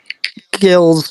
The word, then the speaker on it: Gills: One correction, it's Gills in the Blood. Sorry, it's a soft G like the football club.